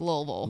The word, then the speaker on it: Louisville: to how far is louisville away louisville about about two hours okay louisville what do people there pronounce the name of the city do they pronounce louisville louisville louisville like two syllables but out of towners